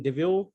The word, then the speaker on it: Deveau: very much we are privileged to have susan devious suzanne am i pronouncing your surname properly yes just double devil